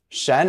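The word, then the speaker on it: 什: that one shun month Shen is pretty straightforward it sounds just like Sh plus the en Shen with a rising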